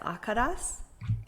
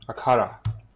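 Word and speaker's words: akhara: to make sure I pronounce this right, the Akadas. Akara. Akata. Okay.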